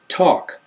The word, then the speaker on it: talk: Talk, walk, short A sound but no L sound.